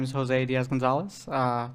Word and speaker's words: Diaz Gonzalez: my name is Jose Diaz Gonzalez uh it's pronounced as if there are accents but there aren't any in the actual name uh and I'm an